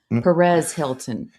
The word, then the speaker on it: Perez Hilton: No, Perez Hilton.